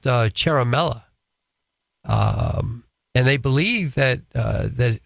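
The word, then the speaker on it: Ciaramella: a 33 year old guy named Eric it's pronounced Caramella and they believe that that well they say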